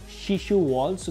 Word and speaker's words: Shishu: This is Shishu Wall, so this is basically your wallpapers. Did I pronounce it correctly?